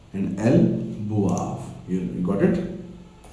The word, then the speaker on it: boivent: last one is ils boivent and elles boivent. You got it? ENT in verb is always silent. Don't forget this rule. ENT in the ending of the verb are always silent.